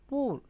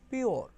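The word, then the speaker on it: pure: ই পুরে, পি ইউ আর ই পুর, কিন্তু এটা হবে কি পিওর, পিওর।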